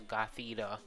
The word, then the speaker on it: Gothita: that index but yeah we caught US a Gothita that's how you say it so that's a